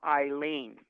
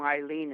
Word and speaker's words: Eileen: the uh the name Eileen is spelled e-i-l-e-e-n but that is silent the first sounding letter is a I so the E is silent you don't count it same same thing with